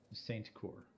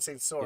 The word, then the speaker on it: Saint Cour: I gotta ask, just because I've probably been saying it wrong all season long, how do you pronounce your last name? Saint Cour. Saint Cor. I've been saying Saint Sor.